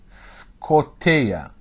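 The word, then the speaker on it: σκοτία: سكوتيا او سكوتي سكوتي ليه بننطق سكوتيا ليه بننطق الالفا كانها في بدايه كلمه لان الايو عليها نبره وقبليها حرف ساكن قبليها حرف ساكن يعني هي نهايه مقطع فاللي بعديها بدايه مقطع فتنطق سكوت او سكوتيا سكوت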